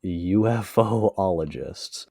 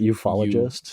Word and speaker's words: ufologist: Apparently, according to a bunch of UFOologists in Russia. Excuse me, it's pronounced the ufologist. Is it ufologist? You simpleton. forgive me, it's ufologist under that.